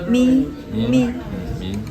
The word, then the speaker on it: mì: Thực ra, nó phải được phát âm là mì.